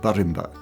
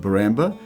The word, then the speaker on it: Woorabinda: We pronounce it Woorabinda, but Woorabinda Creek.